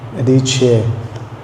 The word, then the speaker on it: Adichie: I actually had to look up how to pronounce her name. Adichie.